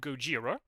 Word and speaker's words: Gojira: the band is called Gojira if anybody's interested oh Godzilla there you go well yes that's the one I've seen that movie Goa yeah that's literally the Japanese pronunciation there you go so